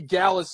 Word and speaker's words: Gallus: was happy to see gallus on Dallas it rhymes with Dallas man Dallas is my